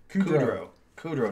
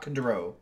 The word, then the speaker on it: Kudrow: You don't even know how to say her name. Kudrow. Not Kudrow. Not Cujo. It doesn't matter. Yeah. Yeah, it's not Lisa Cujo.